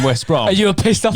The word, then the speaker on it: West Brom: So when those guys were asking and you were saying West Brom, And you were pissed off you about it. lying Oh. motherfucker. I mean, it's pronounced West Brom, but the planet, I'm not.